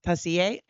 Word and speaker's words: Tessier: Am I saying her name right, honey? Shant Shantel Tacier. I needed the French men to tell me how to say the French name.